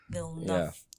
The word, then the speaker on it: Villeneuve: Because it's just supposed to be like two syllable Villeneuve. Villeneuve.